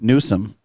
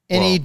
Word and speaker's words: Newsom: Trump on social media said the move was needed if Governor Gavin Newsom of California and Mayor... Newcomb. That's his last name. That's his last name. Newsom. Newscum. Newsom. Well, it's California. He could pronounce it either way.